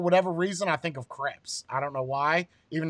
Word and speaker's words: crepe: It's creeps. Did you say creeps with the C? Yeah. Oh, okay. That was you could have just said crepe with a.